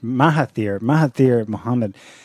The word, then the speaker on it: Mahathir Mohamad: And it was led by someone who has previously been in government, let's pronounce his name right, Mahathir Mohamad.